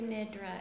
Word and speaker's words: Nidra: Iris Yoga Nidra. Nidra. That's how you say it.